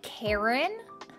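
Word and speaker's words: Charon: things around the pond maybe it is pronounced like Karen Google says Karen okay this is Karen's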